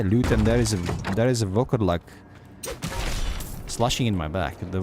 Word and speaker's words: Volkodlak: It's almost how I would pronounce werewolf in my country, except I wouldn't say Volkodlak, I would say Volkodlak without the O.